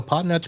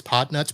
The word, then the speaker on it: Podnutz: guys talking about so potnuts pro is the podcast for it business support and the only real catch you have to know is that pod nuts is spelled p p-o-d-n-u-t-z but it is potnuts pro and the website